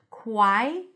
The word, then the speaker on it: choir: So, we have a W sound there. Quai. and then cher but when you transition it's like with chaos here as well cher when you have two vowels connecting not all vowels but when you have two vowels connecting sometimes you get a y sound especially if the vowel